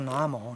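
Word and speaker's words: 南无: 你看读作南无，南无是皈依的意思，皈依。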